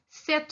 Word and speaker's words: cet: Donc, d'abord, on entend la différence. Il y a un T à la fin du cet. Je dis ce fromage ou cet animal.